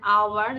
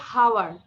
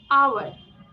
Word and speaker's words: hour: There are 60 minutes in an hour. This is hour. সবাই উচ্চারণ করি। hour, hour, hour. HOUR, অনেকে বলে হাওয়ার। এইচ আছে যে, বাট আমাদের এই ওয়ার্ডটা সাইলেন্ট থাকবে। আওয়ার, আওয়ার, আওয়ার।